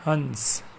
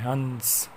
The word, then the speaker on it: हंस: जैसे यहाँ पे हमें दिया है हंस, तो यहाँ पे न का उच्चारण है हंस। जैसे ह में अम की मात्रा मिलाई है और उसके आगे स लिखा है तो वो हंस हो गया है, हंस।